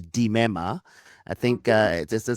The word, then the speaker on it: Limema: My surname is pronounced DMA. I think uh, just a small quirk in the Sutu language. So in Suzutu whenever you see an L I is pronounced D and even an L U is pronounced D.